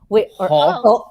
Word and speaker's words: Hull: He's from Northern England, and it's kind of like more like it's he's from a town called Hull. Hull? And you're not supposed to pronounce the H. You're supposed to say O.